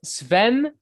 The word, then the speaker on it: Sven: down today i have another special guest it's sven from aborted am i pronouncing your name correctly you are pronouncing it